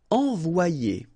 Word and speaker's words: envoyer: So you get the sound O-E, so it's wa, and then you get the sound E and E-R, it's yé. Envoyer, okay? Envoyer.